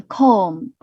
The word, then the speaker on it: comb: Such as climb 就是那个攀登的那个 climb，和 comb 好像 climb 的不也是不会发音吧？就是那个攀登啊，这个单词大家帮我 check 一下。还有这个梳子 comb 好像也是不会发音的。这个 B 字母 B 不发音的情况下是比较常见的。那这里的 B 没有发音。So that's it.